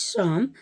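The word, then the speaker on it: Psalms: of the spelling is psa lms and the pronunciation is some so he got inside academy award for his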